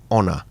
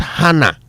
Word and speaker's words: honor: And you know in French H is very often silent. That's why when you bring the word into English, you cannot pronounce the H. It's honor, not honor. And it's not hana.